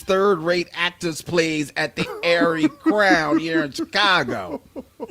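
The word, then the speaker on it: Arie Crown: go to the Mama Jesus third-rate actors plays at the Airy Crown here in Chicago. Usually pronounced Ariel Crown by the attendees.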